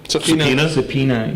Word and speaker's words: subpoena: how do you say that as a subpoena subpoena yay and it's all because of an ongoing